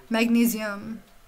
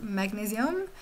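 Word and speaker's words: magnésium: In French is magnesium. So it's spelled the same way, but it's pronounced magnesium.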